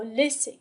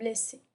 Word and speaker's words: laisser: نفس القاعدة لدينا deux S entre deux voyelles كي تعطينا الصوت S. إذا كانت لدينا S واحدة سننطقها laisser. لأن S entre deux voyelles تعطينا le son Z. لذلك نكتبها على شكل deux S.